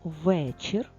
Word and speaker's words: вечір: е в другому складі А тепер слово вечір звук ф в першому складі позначили наголос і звичайно